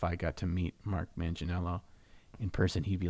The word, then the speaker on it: Manganiello: one to meeting mark Manganiello is that his name is Joe not mark and his last name is pronounced Manganiello not Manganiello so you got to